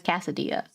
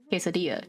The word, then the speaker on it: quesadilla: But look at the tiny ass casadilla. Quesadilla.